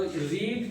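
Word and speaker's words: read: भी सेम होती है बस उसे पढ़ने का तरीका अलग होता है से रेड पढ़ा जाता है लिखा वही जाएगा सेम स्पेलिंग में चेंज नहीं आएगा आर ई ए D first रीड पढ़ते हैं बाकी रेड पढ़ देते हैं तो इज अ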